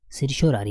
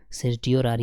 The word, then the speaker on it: certiorari: इसके बाद है फ्रेंड्स आपके सिरश्योरारी है ना, या आप इसमें बहुत सारे प्रोनाउंसिएशन होते हैं ना फ्रेंड्स, सिरश्योरारी या सिरटियोरारी है ना, आप कुछ भी पढ़िए।